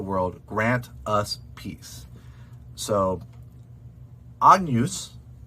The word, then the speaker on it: Agnus: like agnes um and you could say ag noose with a hard gu um but that gn actually is its own sound it's more like a yeah um like yeah like that n followed by the letter y so think of